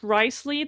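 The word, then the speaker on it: Wriothesley: I think his name is pronounced Riceley.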